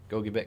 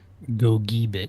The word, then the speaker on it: Gogebic: Ontonagon, Gogebic counties. Pronounce that right, Ryan, right? Gogebic. Gogebic.